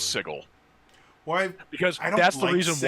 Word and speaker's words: Sigil: one because he says he pronounced sigil Sigel because he was thinking of the city and that's just how he thought it was pronounced hmm it's an interesting